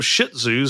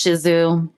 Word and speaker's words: Shih Tzu: pet peeve of mine I've actually always called them shitzus because that's what most every other person calls them yes that's not I know that it's shizzu even people who own them say it wrong and when you work